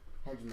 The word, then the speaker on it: hegemony: Yeah, I mean, the And, way like, that I remember how to everything- pronounce it is to just think of it as having 3 syllables. Hegemony. And then it becomes the actual word.